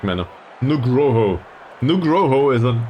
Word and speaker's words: Nugroho: Dulceban and Nugoro. I really need to pronounce this in the correct manner. Nugroho.